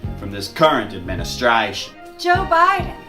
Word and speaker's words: Biden: this current administration joe biden because biden rhymes with friday seriously vote for joe